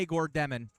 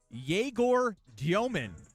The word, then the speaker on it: Yegor Diomin: And then last year I heard some people say Igor Demon or Igor Demon. Those all seem like pretty clear explanations and pretty easy leaps. Yegor Diomin, according to the pronunciation guide.